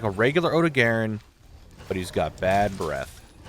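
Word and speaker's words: Odogaron: captured ebony Odon success that's not how you say his name I said it correct OD Garin not Odon don't ever [ __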